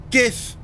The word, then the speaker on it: GIF: you did ah jif gif yeah officially it's jif but i refuse to accept it is it jiff what